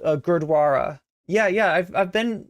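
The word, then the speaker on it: Gurdwara: was about to Mis I was about to mispronounce that grossly thank you for reminding me it's called Gara yeah yeah I've I've been uh by uh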